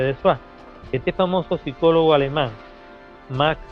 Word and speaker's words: Dessoir: Dessoir es un apellido francés que se escribe Dessoir, se pronuncia Dessoir.